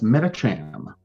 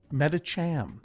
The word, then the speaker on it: Medicham: ruling on that pronunciation that's uh that's medicham meta cham thank you what is